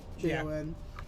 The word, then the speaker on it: Jon: It's kind of like John. Jon. John. We're gonna spell it weird though. It's Jon. There's no H.